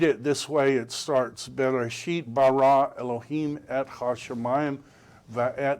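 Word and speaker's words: בראשית: Pronounced Bereshit, or some people pronounce it Bereshith. It depends on if you're trying to do the old pronunciation or the new.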